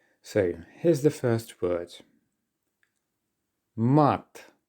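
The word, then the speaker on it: мат: here's the first word mat let me remind you that in Russian vowel sounds are sharper and more open so make sure that you are bearing that in mind when pronouncing these words mat all right and this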